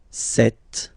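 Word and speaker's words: cette: then set feminine set so you can notice that phonetically these two are pronounced the same way okay set here and then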